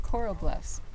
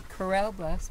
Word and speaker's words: Corral Bluffs: its name many people think actually many people pronounce it Coral Bluffs many people think it's Coral Bluffs but it's really Corell Bluffs because in the late 1800s Cattleman used this